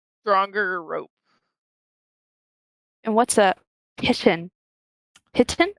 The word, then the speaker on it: piton: that word Piton, that is a French word.